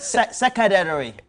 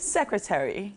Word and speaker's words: secretary: When you are addressing your yesterday I heard secretary. I said, yay. But that's the correct way to pronounce it. What? Secretary. Secretary. Yeah, it's not secretary. The last T didn't come.